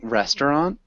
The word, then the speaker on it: restaurant: good one small thing instead of saying restaurant we would generally say restaurant two syllables can you repeat that